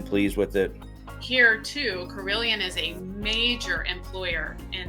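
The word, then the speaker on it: Carilion: you want good care, but you guys have Carillion. I'm not trying to steal your thunder. Did I pronounce it right?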